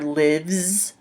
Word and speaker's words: lives: you pronounce this one it can make a sound like in zebra so for example my daughter lives in California it's not